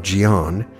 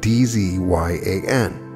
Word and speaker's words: Dzyan: Now, I briefly mentioned the Book of Dzyan in the last episode, and I did check on the pronunciation, so that is correct pronunciation. It's spelled D-Z-Y-A-N.